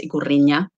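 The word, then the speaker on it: Ikurriña: the flag is called sometimes you see it with the with the enya like the best letter um the spanish letter sorry um but because of the pronunciation in basque it's not actually needed it's igorinha and it was created in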